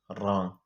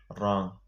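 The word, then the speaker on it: wrong: دا ډبلیو د جملې په شروع کې د آر نه مخکې نه تلفظ کیږي. اگزامپل: رایټ، رانګ. دې کې ډبلیو سایلنټ، ډبلیو نه ویل کیږي. رایټ، رانګ. ډبلیو پکې سایلنټ دی.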